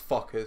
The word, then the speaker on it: Fokkers: That's possibly not even how you say it, but it looks like that. Fokkers. Fokkers. That's Fokkers, mate. Yeah, that is Fokkers.